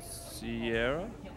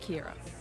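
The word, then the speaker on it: Ciara: nice to meet you Sierra actually pronounced Kira common mistake but now you owe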